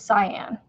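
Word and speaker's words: Cian: So C-I-A-N is cyan. So it's just another way to spell it, like C-Y-A-N, right?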